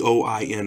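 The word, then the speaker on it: Eoin: don't try to get those name right hey Owen McCarthy ye oin is how you pronounce it I use Bella's name god I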